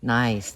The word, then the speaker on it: gneiss: Nice, that's how you pronounce it.